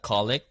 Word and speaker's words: colic: if you're you said I I looked up colic is that how you say it yes baby